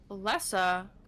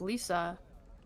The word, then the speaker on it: Lesa: So this is our first losers match here so far, which is going to be Lesa that I keep mispronouncing as Lisa and Ar.